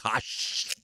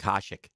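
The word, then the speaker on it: Hašek: Dominic Hash have never won the cup. What's his name? Dominic Hashik.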